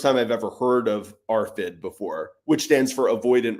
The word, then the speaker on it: ARFID: And I'm wondering what you know about stunted growth and things of that nature with the AFRID diagnosis.